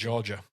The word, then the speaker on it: Georgia: terrible well thank you Georgie was it Georgie that that sent that question Georgia Georgia sorry got your name wrong Georgia Geor not Georgina not Georgie Georgia fair enough great question